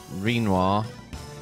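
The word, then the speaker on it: Rinoa: chat in that case Renoir yep pronounced like quinoa uh all of the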